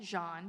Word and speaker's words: Jeanne: You can find me online on Instagram at Jean, but it's spelled Jeanne. It's French, I'm sorry.